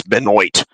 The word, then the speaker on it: Benoit: because I mean it's like At first I mispronounced uh Chris beno's name is Chris Benoit I got that wrong too at an earlier